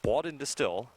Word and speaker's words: Baudendestill: That's 4 syllables if you're counting. Yes, Baudendestill. I'm pretty sure I'm pronouncing it the right way. I asked her pregame, and with the music and everything else that was going on, I'm pretty sure it's Baudendestill.